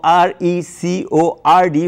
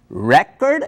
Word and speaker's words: record: didn't know existed for example I didn't know r e c o r d was pronounced record as a noun and record as a verb